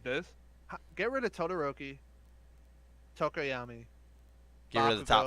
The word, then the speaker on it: Tokoyami: So our top 5, which is Todoroki, Bakugo, Midoriya, Tokiyama, and I did not say his name right. Tokoyami, and Momo.